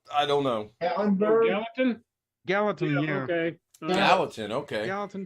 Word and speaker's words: Gallatin: Gallatin, yeah. Okay. Gallatin, okay. Gallatin, Tennessee. Yeah, not Gatlinburg. That's East Tennessee. Nice. You getting any rain? Yeah, we'll await his answer. Maybe he's Gallatin is probably near Gatlinburg.